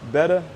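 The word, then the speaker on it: betta: where i keep our betas better however you like to pronounce it it's uh i know it's pronounced better but i find myself saying beta all the time this is why you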